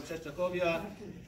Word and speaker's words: Częstochowa: He's a landsman from, I believe, the city of Czesnachowia. Yeah, am I saying it right? Okay, good. He's from Czesnachowia.